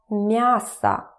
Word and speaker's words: мясо: Remember that it's about vowel reduction. So when it's not stressed, it turns to like that. Мясо, мясо.